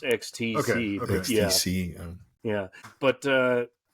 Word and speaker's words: XTC: Well, yeah, but it's usually pronounced XTC.